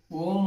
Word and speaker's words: ಓಂ: ಪ್ರಾಣಾಯಾಮ ಅಂತಹೇಳಿ ಇದನ್ನ ಓಂಕಾರದ ಓಂ ಮತ್ತು ಓ ಮತ್ತು ಮ ಎರಡುದರ ಉಚ್ಚಾರಣೆ ಮಾಡಬೇಕು ಯಾವತರ ಅಂದ್ರೆ ಉಸಿರು ತಗೋಬೇಕು ಬಿಡಬೇಕಾದರೆ ಓಂ ಈತರ 75% ಓಂ ಅನ್ಬೇಕು 25% ಮ ಅನ್ಬೇಕು ಈತರ ಮಾಡ್ಕೊಳ್ಳೋದ್ರಿಂದ ನಿಮಗೆ ಸ್ಟ್ರೆಸ್